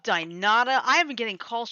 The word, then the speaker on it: Dynata: Is it What kind of scam are they DINADA? No, DYNATA. Dynata.